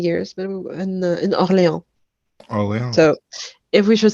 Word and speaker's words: Orléans: yeah, we have New Orleans, which we pronounce it wrong and pronounce all the French stuff wrong. C'est Orléans. Orléans.